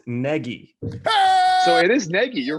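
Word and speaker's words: Nagy: really it's not even it should be pronounced very different than how it's spelled yeah i think or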